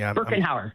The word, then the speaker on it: Birkenhauer: Birkenhauer. Birkenhauer, yeah.